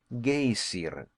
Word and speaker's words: Geysir: The geyser, a word the Icelanders pronounce geysir, and which signifies fury, rose majestically from its summit.